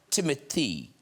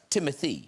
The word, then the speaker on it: Timothée: say Timothy it's pronounced Timothy it's whatever you'd like cuz I always thought I don't know if you guys I thought it was timot because of the double e at the end it's supposed to be